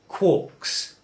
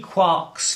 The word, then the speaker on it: quark: beside the mark now that would suggest that since we're rhyming with bark and Mark it ought to be a quark but Gelman was very clear he wanted it to be called a quark so strictly that's what